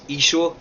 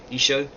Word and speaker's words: Isho: In the Assyrian Aramaic, it's Isho, Y-S-H-O, Isho.